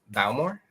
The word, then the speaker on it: Bowmore: laphroaig and i said bowmore balmore is how you say it but more because again